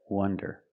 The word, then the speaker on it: wonder: now let's talk about Wonder with the close sound uh uhw Wonder we have two meanings